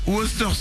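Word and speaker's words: Worcester: difficile à prononcer Mélanie c'est un truc avec des W Wu voà exactement c'est le truc qu'on sert au resto et qu'on steak de bœuf Tartar exactement la fameuse sauce woster on sait jamais comment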